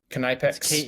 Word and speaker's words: Knipex: Knipex. Knipex. Yeah, supposedly you pronounce the K.